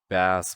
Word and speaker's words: bass: Like I enjoyed to singing, and yeah, apparently I can do a bass voice. Bass voice. That's how you pronounce it.